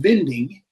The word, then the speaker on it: Winding: Kai Winding, or as you pronounce his name, Winding, probably would be the correct pronunciation, but in the jazz world, we know him as Kai Winding.